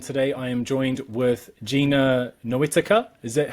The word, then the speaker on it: Gina Noetica: Well, we are live, and today I am joined with Gina Noetica. Is that how I pronounce it?